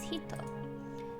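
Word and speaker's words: 人: is the hiragana and the last kanji is pronounced hito as before the first kanji means female and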